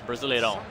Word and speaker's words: Brasileirão: But like a big thing, like, you know, big Brazil, Brasileirão.